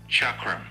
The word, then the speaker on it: Chakram: Iber, to make sure I pronounce the name properly, even sent me a recording on how to pronounce the name correctly. Chakram.